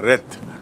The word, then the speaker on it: wreath: उसे कहते हैं flower रेथ, WREATH। एंड to rhythm माने, उच्चारण देख लीजिए, टू रिद जब वो क्रिया होती है तो रिद, रिद माने गूंथना, और रेथ माने फ्लावर का गुच्छा जो गोलाकार रूप में